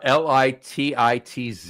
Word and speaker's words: Lititz: then and and it's there's a town uh l i TI TZ it's pronounced l litit l pronounced litz it's pronounced lits Lititz what are those they're Lititz there you